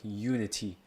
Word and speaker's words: Unity: it quite correctly so I wanna like confirm it's like unity not like immunity it's like I'm a